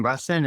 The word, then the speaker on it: Russin: Russin, is that how you say his name? Yep.